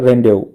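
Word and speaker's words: rendezvous: to demonstrate, दर्शाना, exhibit भी करना, ऑर्बिटल रेंडेवो, देखो इसका प्रोनाउंसिएशन होता है रेंडेवो, रेंडेवो होता है मिलना,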